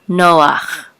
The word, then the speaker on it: Noach: do this if the if the head is at the end of the word and there's a pata underneath it'll always bring be pronounces ah even though it looks kind of like huh okay so this is a noon with a Harlem so you will say no and this is that ah Noah Noah of course there's